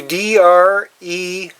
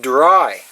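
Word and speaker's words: Drey: you're going to see d r e y and you would think you would pronounce it dre but it this is pronounced dry a dry square mason jar got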